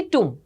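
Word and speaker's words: tomb: उनकी correct pronunciation करें इसे टूम नहीं कहते हैं ब साइलेंट रहता है जो बी वाला ये है ये साइलेंट रहता है इट is only टूम टूम okay so इनका किसका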